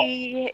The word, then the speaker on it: Sidhe: She is spelled Sidhe, I believe, or Yep. Sihde. I know it's one of those.